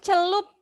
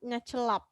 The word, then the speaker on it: celup: And then celup. Yeah, it should be celup, not celap. Celup.